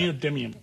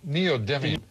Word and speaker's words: neodymium: America's only neodium how do you say that neodymium neodymium neodymium I was I wasn't even close neod